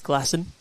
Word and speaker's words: Glasson: So I did double check to see whether pronunciation was actually Glasson or with the one S. No double continent. It could have been Glacon maybe, but no, it is Glasson confirmed. Well, he's putting in bowls like Steve Glasson.